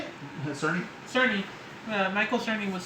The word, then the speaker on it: Cerny: Currently, I can't pronounce his last name. How do you say it? Cerny.